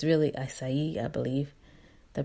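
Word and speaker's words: açaí: Some people say acai, but it's really acai, I believe, the pronunciation, berries, and it gives you some information about that.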